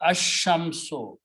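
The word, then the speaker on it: الشمس: So lam's sound will be killed and sheen will be pronounced together. Ashamso.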